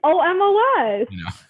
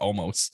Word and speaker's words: Omos: this to see omar's debuts oh moss it's omos i've heard some people pronounce it all like almost and i'm like it's almost like what's this